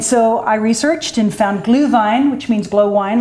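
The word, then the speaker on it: Glühwein: through March generally and it's it's gluhwein it's pronounced gluhwein it is a German wine German wine which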